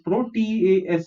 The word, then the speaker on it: protease: P R is protease is tease, protease. However an enzyme protease obtained from fungi is used at present to produce vegetarian cheese.